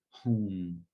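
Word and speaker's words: hung: of every single tap begin to chant home sounds like h-u-n-g now the syllable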